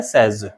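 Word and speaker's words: says: Munni सेज, क्या बोलेंगे, वैसे सेज का सही प्रोनाउंसिएशन होता है सेज।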